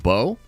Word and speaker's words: Beau: able to gamble Bo it's literally just pronounced bow or bat like bow damn dude talk about